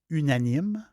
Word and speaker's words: Unanime: n i m e je le prononcer en français unanime c'est un Chardonnet qui